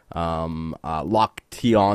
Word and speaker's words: Loktionov: Loktionov is how you say that.